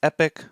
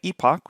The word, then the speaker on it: epoch: a specific word, and depending if you pronounce it the American way, which is epic, or the British way, epoch, which is the way I pronounce it, essentially one epoch is